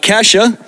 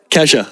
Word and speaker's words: Kasia: And and another special shout out here to Kasia. And am I pronouncing it right? Yes. Kesha. Okay, yeah.